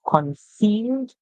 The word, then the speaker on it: conceal: So we have the E and A making the E sound there, just like in the word reveal, conceal.